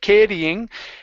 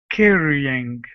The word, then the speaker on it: carrying: thousands of pounds oh watch your R sound instead of caring carry carrying carrying good okay one last